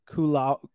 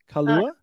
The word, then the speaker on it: kalua: You've got the lunch plate kulau. No, that's pork. Pronounce it for me. Kalua. Kalua. Yeah, straight up kalua.